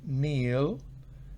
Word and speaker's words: kneel: El verbo kneel, acá no se pronuncia en primer lugar. Entonces el infinitivo es kneel, el past es knelt y el past participle es knelt.